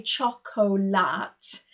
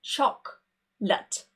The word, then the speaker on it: chocolate: For example, you don't say chocolate. We would just say chocolate.